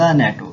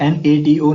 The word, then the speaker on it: NATO: My cousin works for द नेटो. नेटो NATO नहीं पढ़ा, हमने नेटो पढ़ा, तो यहाँ पे हम दा को इस्तेमाल नहीं करेंगे.